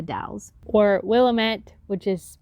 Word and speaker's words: The Dalles: which is coeur d'alene or as my gps says the dallas which is actually the dalles or willamette which is